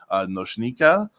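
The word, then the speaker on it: Nočnika: Nika is fine if you have trouble pronouncing Noshnika. As a guidepost, the hashek here in Noshnika is pronounced like the CH in chocolate.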